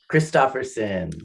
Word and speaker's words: Christopherson: how do you say how do you say your last name kristopherson oh you were right oh I lost that